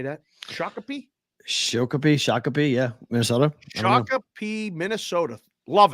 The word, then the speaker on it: Shakopee: Shakopee, yeah.